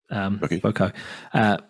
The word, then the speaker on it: Voceaux: Well, called, I don't even know how to pronounce it, Voco. Have you heard of these people? I know. And it's spelt Voceaux, as in a bit Frenchy sounding.